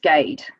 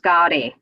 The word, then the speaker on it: Gade: was working at Audi my surname is pronounced Gaede here in England and my dad had to adopt that back in India it's pronounced Guardi and people over here couldn't really pronounce it when he came across in the 60s so he just settled on Gaede mostly bit of that